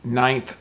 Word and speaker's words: ninth: September is the ninth month of the year.